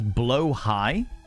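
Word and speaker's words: Blåhaj: Pronounce it as blow high.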